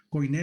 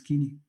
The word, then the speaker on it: Koiné: Koiné le dicen muchos, pero realmente la pronunciación es Kini o Kini.